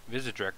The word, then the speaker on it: Vizedrek: This is my first ever dual commentary, and I've got Vizedrek with me. Did I pronounce that correctly?